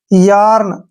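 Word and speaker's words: yarn: park, यार्न, यहाँ पे देखिए ए के बाद फिर से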